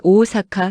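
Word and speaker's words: 大阪: 오사카는 오오사카, 교토는 쿄토, 후쿠오카는 후쿠오카. 발음이 거의 한국어랑 비슷해서 야매로도 통함.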